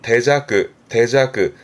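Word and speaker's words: 手酌: 앞에 손수 붙은 발음은 대자크.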